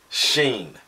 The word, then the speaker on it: Shin: is the Hebrew letter Sheen. It's pronounced sheen, but it's spelled looking like shin, or the shin like on our leg, our shin bone, but it's pronounced with a long E sound, sheen.